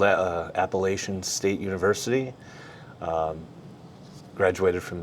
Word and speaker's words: Appalachian: Appalachian. Yes, that's how you say it's not Appalachian folks.